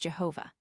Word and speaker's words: Jehovah: The Tetragrammaton, or the 4-lettered name of God, written IHVH, is pronounced Jehovah.